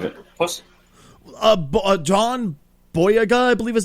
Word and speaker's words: John Boyega: John Boyega, I believe his name is pronounced. John Boyega. Boyega, thank you very much.